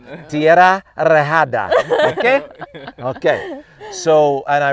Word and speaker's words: Tierra Rejada: Well, that's one of my students told me how to say it that way. Oh, so you right? have to. I went Tierra Rejada. No. Tierra Rejada.